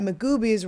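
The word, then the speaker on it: Magooby's: be in Baltimore at magoobies rhymes with sweet boobies um June 2nd and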